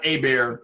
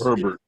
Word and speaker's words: Herbert: not it's spelled no it's not a bear it's it's herbert it's not a bear